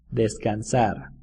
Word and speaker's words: descansar: rest because she's tired desk in Kansas sounds a little bit like the Spanish word for to rest Des desk in Kansas